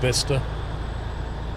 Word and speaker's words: Bicester: in Vista well yeah best is weird because it's spelt bicester or pronounced Vista very strange I was